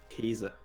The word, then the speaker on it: Käse: Käse. Käse? Käse. How do you spell it? K-A-S-E. Käse. Like the A with the 2 dots on top. Okay.